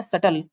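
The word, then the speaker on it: subtle: सी अगला क्वेश्चन है सटल बी जो यहां पे साइलेंट होता है तो सटल का हमको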